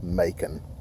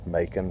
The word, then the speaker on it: Macon: name yeah that's right my name is Macon I know I know making rhymes with bacon yeah I've heard that